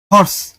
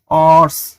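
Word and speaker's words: horse: যেমন এইচ ও আর এস ই, হর্স, এইচ এর সঠিক উচ্চারণ তো উচ্চারিত হয়েছেও এর মতো, এর মতো হয় নাই, অর্স হয়েছে না, তো ও আবার বংশের মর্যাদা ঠিক রাখছে, কনসোনেন্টের মতোই উচ্চারিত হয়েছে, এজন্য কনসোনেন্টের আগে যেটা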